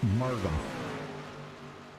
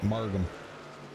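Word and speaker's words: Margham: Yeah, just remember Vernon's, his last name, the H is silent. Okay, so it's just Margam. That's the best way to that's the way I always remembered it, Margam.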